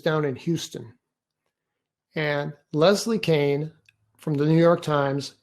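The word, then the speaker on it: Kean: reporter named leslie kane she pronounces her name kane it's spelled k-e-a-n she's the one that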